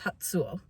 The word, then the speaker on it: Hatsuo: is hatsuo um the in Japanese this each syllable has a very specific pronunciation and TSU is a syllable of itself you don't separate the T and the s when you're doing something so it's hatu it's